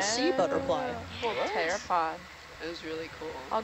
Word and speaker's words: pteropod: Pteropod has a P in it. Kind of like tinafore with its C.